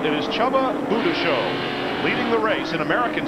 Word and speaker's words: Csaba Bujdoso: But this man's name is, you would think, almost unpronounceable. It is Csaba Bujdoso, leading the race in American sedan ahead of